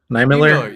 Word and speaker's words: Niemiller: How do you pronounce his last name? Is it Niemiller? Niemiller, yeah.